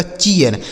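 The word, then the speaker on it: cheer: आगे सी H double E आर, तो सी एच से हो गया दोस्तों च, इस डबल ई का उच्चारण ईया हो गया, उसके बाद आर लिखा है, आर से र हो जाता है, यह लिखा गया आपका चीयर, सी H double E आर चीयर।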